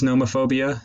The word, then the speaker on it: nomophobia: What is nomophobia exactly? It can be broken down into three syllables: no, mo, and phobia.